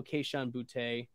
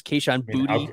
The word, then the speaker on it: Kayshon Boutte: I'm gonna go Kayshon Boutte. Yep. I think that's the correct pronunciation I've been seeing in the Twitter spheres. Kayshon Boutte.